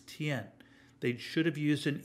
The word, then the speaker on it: tian: final of a word ends in Y-A-N, it rhymes with yen. So, for example, sky is T-I-A-N, looks like tian, but no, it's not, it's tien.